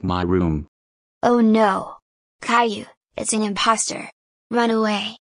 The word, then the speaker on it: Caillou: little brother's name is you know how my name is Caillou right well maybe he pronounces it like most do kai who okay I see so